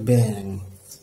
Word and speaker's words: ব্যাং: আবার যেমন ব্যাং লেখার সময় আমরা এইভাবে লিখব, কিন্তু উচ্চারণ হবে ব্যাং, নিয়ম একটি রয়েছে কিন্তু এখনো।